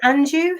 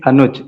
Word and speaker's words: Anuj: Is it Anju? How do you pronounce your name? I don't know why several teachers made a mistake to pronounce my name. Actually, it's Anuj, A-N-U-J, Anuj.